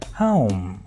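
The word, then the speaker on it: whom: आइए दूसरा इससे मिलताजुलता वर्ड इंग्लिश में जो हम बोलते हैं डब्ल्यू साइलेंट है ऑब्वियसली। तो हम इसे बोलेंगे हुम। अच्छा आप इसे होम बोलते हैं ना उससे भी डिफरेंट है।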